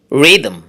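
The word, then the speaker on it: rhythm: এর পরের ওয়ার্ড দেখুন, রিদম, রিদম।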